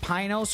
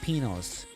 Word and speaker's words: Pinos: was like the white the white pronunciation is Pinos and I'm like so it's penos yes yes yes yes Mount